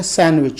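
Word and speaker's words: sandwich: father अ ये सैंडविच सैंडविच बी एक ऐसा लग जाए जिसमें डी साइलेंट है और इसका सही तरफ से सैंडविच कि अब इन दिनों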